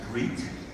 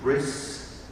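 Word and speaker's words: ברית: The Hebrew word we might use is brit. Okay? People may be understanding brit, or if I use the Yiddish, or the very Ashkenazi pronunciation, bris. Right?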